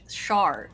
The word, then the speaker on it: Char: to do it sh so it's shar shar it's like there you go it's not